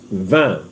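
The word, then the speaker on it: vingt: you come to 20 there is a word for 20 in French it's called van v i n g t van now you come to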